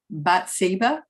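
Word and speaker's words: Bathsheba: have power um that this how do you pronounce I I I missed bat siba yeah okay um but she has power and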